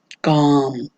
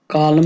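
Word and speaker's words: calm: इसमें काम, कालम नहीं कहते आप, इसको काम कहते हैं, खामोश जैसा कहते हैं, is very काम, this place is very काम, ये जगह बहुत खामोश है। काम में हम एल को जो है प्रोनाउंस नहीं करते, एल को साइलेंट रखते हैं, तो काम।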